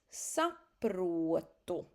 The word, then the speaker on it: saprotu: Please don't miss the Latvian O. You start like an U and then go to O. O. O. Es saprotu.